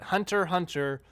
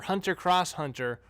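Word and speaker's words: Hunter × Hunter: to say it but hunter hunter or hunter cross hunter or hunter x hunter whatever whatever you call it let me know they've got nut comments below how you call how you say it if you do know but I'm going to say hunter cross hunter because that makes sense to me hunter hunters make any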